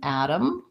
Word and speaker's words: Adam: asking about the name Adam and the particle the Adam so in American English yes we use a flap on both of these so a flap T sounds basically like a light D I'm not saying add